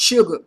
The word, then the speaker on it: SRG: created their own girl group called srg pronounced sugar however things weren't progressing